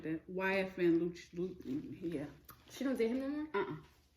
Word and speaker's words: Lucci: It is Lucci. I'm saying Lucy. He was Lucci.